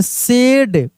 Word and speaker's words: said: सेड, SAID सेड।